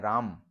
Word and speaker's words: राम: हैं राम लेकिन बोलते हैं अंतिम अ को उच्चारण से गायब कर देते हैं तो बोल रहे हैं राम लेकिन लिखते नहीं है राम लिखते हैं राम